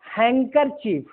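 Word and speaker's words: handkerchief: रुमाल का अंग्रेजी हैंकरचीफ, डी साइलेंट है।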